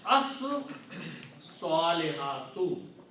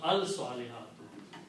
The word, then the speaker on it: as-salihat: Also, swad will kill the sound of lam and it will be pronounced twice. So we pronounce as salihatu. You will not pronounce al salihatu because swad is a